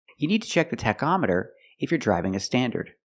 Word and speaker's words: tachometer: call it a tachometer with the word tachometer the CH makes a C Sound ctac tachometer you check the tachometer